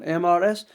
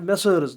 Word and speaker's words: Mrs: Shugupta for a married woman, MRS. And some people mispronounce it as Messrs. This is not Messrs, this is Mrs.